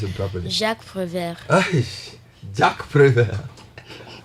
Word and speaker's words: Jacques Prévert: Jack Prevert. What's is that? Am I pronouncing it right? Kind of. Can you help me pronounce it properly? Jacques Prévert.